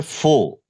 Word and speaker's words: fore: ठीक, एक जो शब्द है ना, एक शब्द है फो, FORE। इसको फोर मत पढ़ना या फोरे मत पढ़ देना, नहीं तो बेइज्जती हो जाएगी। FORE, इसका करेक्ट प्रोनाउंसिएशन होता है फो या फो।